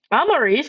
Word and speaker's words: Amaris: Amaris. I was going to pronounce it as Amma and my brain went wrong.